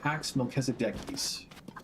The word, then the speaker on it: PaxMelchizedekis: Uh I pronounce my username PaxMelchizedekis. Um The ch is a k sound because it's originally a Hebrew word. Um And then Pax is the Roman word for peace.